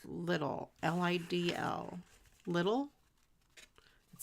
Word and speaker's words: Lidl: I've seen it on TV where it's pronounced Lidl. Okay, maybe Lidl. Yeah, that does sound like I bet it would be Lidl. And not little, because little would be small. I'm going to go to the little store.